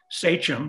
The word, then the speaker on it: sachem: Many of you who know, have your Mayflower history down, know that he was the sachem, that's how it's pronounced, of the Wampanoag tribe.